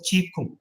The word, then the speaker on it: qigong: as qui-gon q-a-g-o-n that's written in english but pronounced as cheek now chi means energy and kung means exercise